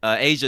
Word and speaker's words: Azia: Asia is spelled with a Z. AZIA.